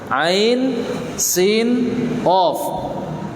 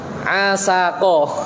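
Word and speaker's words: عسق: Orang karena nggak ngerti tata cara baca huruf muqatta'ah, seperti ini dibaca apa Pak? Asako. Mas, sinau sik yang bener Mas. Pede bacanya keras asako.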